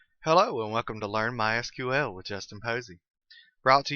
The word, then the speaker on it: MySQL: as you can tell I've been calling it MySQL that is the correct pronunciation however it is also commonly called my sequel if you hear it called that don't be